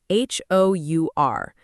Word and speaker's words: hour: Think about the word hour, h o u r. But, we say hour. The H completely disappears.